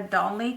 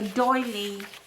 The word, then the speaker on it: doily: want to add a dolly to this one in a dolly I also I mean not a dolly a doily for my grandma um my